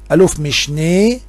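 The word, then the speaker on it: אלוף משנה: واحد وصل لقاعدة أوفير لا تنطق ألم أبدا. ألوف مشني، أي العقيد يعقوب نافو، زل، إذا اختصار ألم لازم أن يفك وينطق ألوف مشني وزل، هذه تنطق والزين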